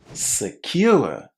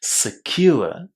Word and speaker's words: secure: And the stress, there's a very strong stress on the second syllable here, secure.